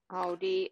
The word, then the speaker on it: Audi: Audi and Aldi. So Aldi Okay. is a supermarket, and then Audi, because there's no L, is the car.